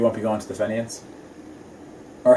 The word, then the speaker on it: Fenians: So you won't be going to the Fenians? Or how do you Yeah. how do you pronounce that, by the way? Apparently, it's called Finians.